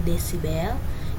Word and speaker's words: desibel: TI itu adalah taraf intensitas bunyi, satuannya dB atau dibacanya desibel, I intensitas bunyi, L0 intensitas ambang pendengaran.